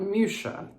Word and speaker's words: Mucha: Mucha, not Mucha, like I said, Mucha. I might be saying that wrong too, but it's Alphonse Mucha, and it's Winter of the Four Seasons series.